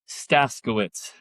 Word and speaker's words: Staszkiewicz: Chuck Staskiewicz. Staskiewicz. I would have totally butchered that.